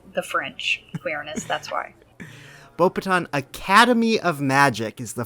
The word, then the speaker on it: Beauxbatons: the next one is bull pathan the S is silent by the way no I did not I knew the X was silent because of the French queerness that's why bow patent Academy of Magic is